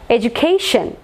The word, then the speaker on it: education: Education. Last syllable.